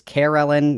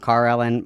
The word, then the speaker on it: Kellen: It's Kellen, not Carellin.